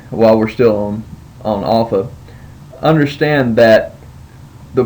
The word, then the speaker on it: Alpha: go with that um Alpha needs to be pronounced as the the A and father so like you would say father you see Alpha now Alpha can have